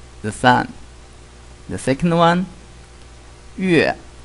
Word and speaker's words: 月: In Chinese, the pronunciation is 日. Okay, the second one is the moon. In Chinese, 月, 月.